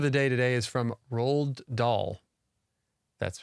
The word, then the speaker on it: Roald Dahl: And our quote of the day today is from Roald Dahl. That's pronounced correctly.